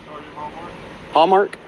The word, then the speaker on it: Hallmark: too what's your name Hallmark like the uh card store just like the card store that way I'm just